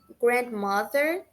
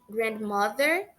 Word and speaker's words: grandmother: A pronúncia de grandmother e grandfather pode variar muito dependendo do sotaque da pessoa, tá? Dependendo da região que a pessoa vem. Por quê? Você pode ouvir a pessoa falar grandmother, sem a pronúncia do D, aquela pausa na letra D, ou você pode ouvir